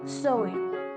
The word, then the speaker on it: Samhain: in the ancient Celtic festival known as Samhain, pronounced Samhain, which means end of summer, and was celebrated